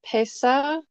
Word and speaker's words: Pesach: So some people pronounce it Pesa. I would say probably with the characters, I pronounce it more Pesach.